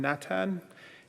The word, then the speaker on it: Natan: And just as Mata had said earlier, why I'm Natan is because there aren't H's in our language. So Natanai or Natan is the way in which Nathaniel is pronounced in Inuktitut.